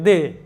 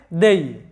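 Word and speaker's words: they: তো এখানে এই দেই শব্দটাকে অনেকেই ভুল উচ্চারণ করে থাকে, দে, এরকম উচ্চারণ করে দে। আসলে এটার সঠিক উচ্চারণটা হবে দেই, দেই।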